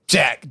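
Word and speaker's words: Jak: So yeah, that that's what Jack did cuz he's a little Is it Jack CK or like J? What are you saying? Jack. J A K.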